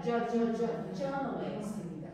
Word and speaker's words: journalist: 어 발음이 아니라 journalist입니다. Journalist.